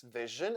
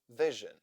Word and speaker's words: vision: station s i o n Asen in words vision and television so Vision s i o n s i o nen